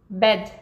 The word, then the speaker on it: bed: Bad, que é diferente de bed. Bed.